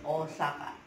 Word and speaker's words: Osaka: Osaka, Osaka, Osaka. Pronunciation is Osaka.